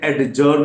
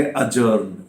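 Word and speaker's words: adjourn: यहां पर D silent है, इसलिए ये एडजर्न नहीं है। एडजर्न का मतलब होता है स्थगित करना, तो ये डी साइलेंट है, इसलिए हम इसे बोलेंगे अजर्न।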